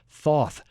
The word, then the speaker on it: Thoth: His name was Thoth. It's like saying hot sauce, hot Thoth, but you're mispronouncing it, Thoth.